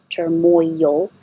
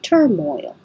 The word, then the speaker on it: turmoil: you to think of turmoil but Moy your tongue goes up very high and then you yield it slides down for the L so it kind of makes it extra syllable turmoil oh um I know